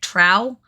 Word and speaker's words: Drow: Except for Drow being known as Dro. That is like the one and only FU. No. But So other than It's that, an app. I'll even accept the T yeah. instead of the D, like Trow, but not Dro.